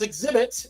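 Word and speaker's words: Xzibit: Alvin and Nathaniel Joyner AKA exhibit pronounced exhibits it's an American rapper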